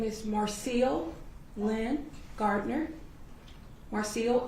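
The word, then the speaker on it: Marcille: them your name and if you can, just spell it for the court. Okay. Um, my name is Marcel Lynn Gardner. Marcel, M A R C I L L E.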